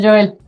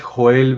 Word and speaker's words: Joel: Mi nombre completo es Joel Benedicto Vilche Gutiérrez, aunque algunos lo pronuncian como Joel, yo a veces prefiero que lo pronuncien con la J fuerte como como dice en